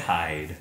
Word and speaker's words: Hyde: Hyde.